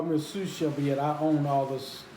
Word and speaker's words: sous chef: my sous chef opens up our hoops here sous chef that's how you say it opens up um